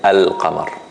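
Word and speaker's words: القمر: Al-Qamar doesn't have a shadda, so it is Qamariya, which means that I pronounce the Laam. I say Al-Qamar.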